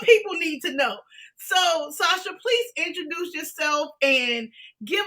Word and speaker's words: Sacha: This is the stream that you need to be on because she's providing, and I'm at Sacha, right? Yes. Okay, see, because I was about to pronounce the CH because I'm about to